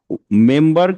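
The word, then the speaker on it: member: তাহলে এইখানে আমরা জানি এম এর পরে বি থাকলে সেটা সাইলেন্ট হয়ে যায়, বাট এইখানে যেহেতু দুইটা স্লেবল এবং মিনিংফুল একটা ওয়ার্ডেরই দুইটা স্লেবল একটা অংশ, তখন এইখানে এমটা কি হচ্ছে, সাইলেন্ট হচ্ছে না।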